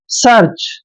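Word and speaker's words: search: है next word देखिए एस ई ए आर सी एच एस का उच्चारण हम स कर रहे हैं ई ए आर का उच्चारण अर करेंगे देखिए स के बाद अ का साउंड आएगा फिर आर यानी आर को र पढ़ेंगे और सी एच का उच्चारण च करेंगे आर जो है यहां पर लगाएंगे र के रूप में सर्च ठीक है ना दोबारा लिख लेते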